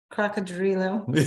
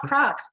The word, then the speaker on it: Cocodrilo: Cocodrilo, not croc, Cocodrilo. Cocodrilo, yep.